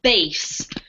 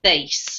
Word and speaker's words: bass: is pronounced pronoun ounc Basse um you can pronounce it bass when it refers to a fish but if it's referring to music we pronounce it base okay okay great so